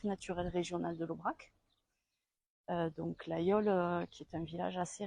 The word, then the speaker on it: Laguiole: Alors ça se dit l'Aïole, mais ça s'écrit L-A-G-U-I-O-L.